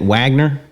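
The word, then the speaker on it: Wegner: It's spelled Weg, but he said it Wagner.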